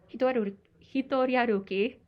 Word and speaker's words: Hitoriaruki: So your essay is titled Hitoriaruki.